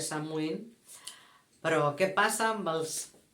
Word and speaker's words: Samhain: La nostra ja sabem que és la castanyada, el Halloween ens ve d'Amèrica, Anglaterra, originàriament ve d'una festa celta que s'escriu Samhain, es pronuncia Samhain, però què passa amb els nostres nòrdics?